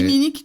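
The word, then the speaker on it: timinik: Et il est possible mais c'est très timinique tout comme ça se prononce. Ouais, je je moi je l'écrirai T I M I N I K.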